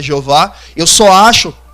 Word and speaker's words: Jeová: Então, eu discordo daqueles que dizem que é Jeová, por mais que essa seja a pronúncia mais popularizada no nosso meio. Eu não vou brigar com você porque você diz que é Jeová.